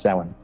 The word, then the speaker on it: Samhain: of samhain and it's spelled samhain but it's pronounced seven and uh it was one of the calendar